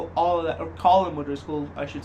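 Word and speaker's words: Colm O'Driscoll: the whole Cornwall things could have been avoided col madris all that or colum madris I should say that's his right name name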